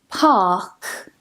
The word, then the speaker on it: park: Another one is park, park. I don't pronounce the R again because the word ends with a K.